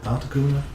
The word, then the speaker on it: Articuno: Articuno? Is that how you pronounce it?